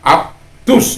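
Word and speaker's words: αὐτούς: Jadi dia ketika dan aptus, ya. Jadi alfa ketemu epsilon, maka dibaca menjadi af. Jadi aptus. Terus kemudian di situ kenapa menjadi aptus? Karena ada di situ kata omikron ketemu epsilon menjadi u, ya.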